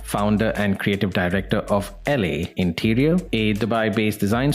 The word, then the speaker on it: ELE: I must confess my ignorance just because I didn't know L or E L E is actually pronounced LA.